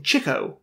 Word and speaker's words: Chico: But from this, he became Chico, with a K in it.